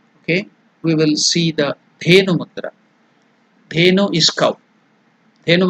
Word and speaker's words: Dhenu: The pronunciation is da, dha. Consonant. So it is alpa prana, maha prana. Less energy, more energy. So there is more energy. Maha prana. The. Da. If you put a kara, that is the vowel a, add it, it becomes de. Then if it is maha prana, more force, the. Dhenu mudra.